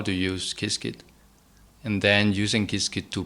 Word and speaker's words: Qiskit: So you mentioned a couple of times in there Qiskit. So for anyone listening, that's spelled Qiskit.